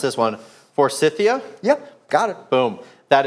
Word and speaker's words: Forsythia: I have an old, hold on, I may mispronounce this one, Forsythia?